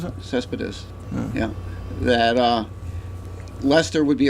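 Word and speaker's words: Céspedes: And the fact that Lester Is that how he pronounces it? Cespedes, yeah, that Lester would be a free agent, and he'd really like to stay in Boston and come back.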